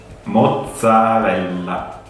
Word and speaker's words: mozzarella: So the correct way is mozzarella. Double L. Mozzarella. Oke, karena mozzarella kan double Z, double L. Jadi kita bacanya kayak si pizza tadi, ada T sama S. Jadi mozzarella, karena double L, L-nya agak dipanjangin.